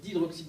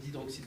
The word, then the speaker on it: d'hydroxyde: Alors juste un petit détail, mais c'est pas bien grave, on ne va pas dire une solution de hydroxyde de sodium, on va dire une solution d'hydroxyde de sodium, puisqu'ici, en fait, bon,